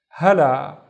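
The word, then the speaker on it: هلا: So the first syllable is ha, and then the second syllable is la. So this is basically la and alif. Hala, hala, and hala means hi.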